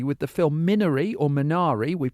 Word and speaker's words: Minari: Roots uh particularly with the film Miner or minari we pronounce it two different ways in this conversation